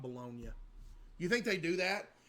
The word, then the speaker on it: Bologna: In Italy, bolognia, not pronounced bologna, is primarily there's a baloney Italy.